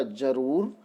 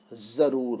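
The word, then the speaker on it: ज़रूर: जैसे हम बिना नुक्ता लगाए शब्द का उच्चारण करें तो बनेगा जरूर, जब हम नुक्ता लगा देते हैं तो हो जाएगा जरूर, है ना।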